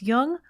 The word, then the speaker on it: Jung: Just be sure to pronounce Jung with a hard J. I'm Laura London, and you've been listening to a very special quarantine edition of Speaking of Jung.